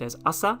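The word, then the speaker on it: 朝: Even though the kanji for morning by itself is pronounced as asa, in this case it's kind of like merged together with the ima, and it becomes kesa, means this morning.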